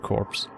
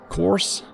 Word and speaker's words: corps: company of senator flamethrower corpse course that's how you pronounce it right i've always been confused about this word course right isn't p silent i think so don't you